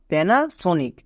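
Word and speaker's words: Panasonic: এর সাউন্ড করে নিলাম এবার উচ্চারণ করো পি এন এ প্যানা next S ও এন আই সি সনিক পুরোটা কি হলো প্যানাসনিক এবার এখান থেকে বুঝতে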